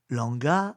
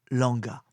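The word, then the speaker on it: Lwanga: l'église faite Saint-Charles Langa Langa s'écrit l W A n g Langa et ses compagnons martyr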